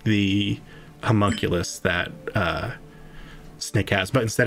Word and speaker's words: homunculus: The ruby serpent, the drake, and she points to Snick's, how do you say, homunculus?